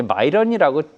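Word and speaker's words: Miran: 이제 마이런이라고 하더라고요. 예. 이제 미국 사람들 발음인데 이 마이런까지 들어오니까 정말 사면초가 입장에서 금리 인하를 해야 될 것인가?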